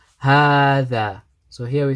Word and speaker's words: هذا: we mentioned previously, that there's a alif here which is pronounced but not written, we need to say هذه. Same way we say هذا.